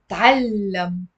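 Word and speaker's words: تعلّم: It's a difficult thing to do, by the way, whenever you have a word starting with a spoon and no vowel. And you have to immediately follow it with another consonant that has a fatha.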